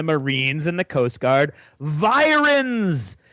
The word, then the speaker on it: virens: in the Coast Guard virens as it rhymes with Sirens like the ones going